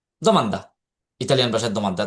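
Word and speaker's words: domanda: তো আপনারা এটারে আবার যদি মনে করেন যে ইতালিয়ানদের কাছে আসার পরে আপনি যদি বলেন ডমান্ডা হ্যাঁ। ড ড উচ্চারণ যদি করেন দি উচ্চারণ করেন তাহলে এরা বুঝবেই না। এজন্য আপনাকে এখানে দ মান দা এই দ এই দিটার উচ্চারণ হবে দি।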